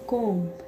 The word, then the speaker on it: comb: लिम क्या पढ़ेंगे, लिम, क्योंकि यहाँ पर बी साइलेंट लेटर है। जैसे कि ए को दे दो कॉम्ब, ए को लिख के दे दो COMB, कॉम्ब।